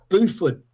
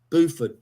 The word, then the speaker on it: Beaufort: Beaufort. Just like beautiful, but Beaufort.